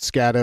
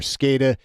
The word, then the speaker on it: SCADA: have scada systems scada some people pronounce it scatter or scada supervisory control and data